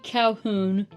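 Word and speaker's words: Colquhoun: She her and I play Lizzy Calhoun, which not spelled how you would think. Yeah, I was about to say I will be nice and spell it out for the audience. It is C O L Q U H O U N. That is the old Scottish way of spelling it.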